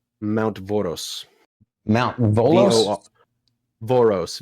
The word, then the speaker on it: Voros: Mount Voros.